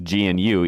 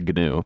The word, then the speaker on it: GNU: GNU is not pronounced GNU, even though you might think it is because GNU is a weird word to pronounce, but no, it is pronounced GNU.